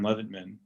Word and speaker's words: Leventman: under Almost Adults and then my name, Leventman. That's spelled like Event Man with an L in front of it.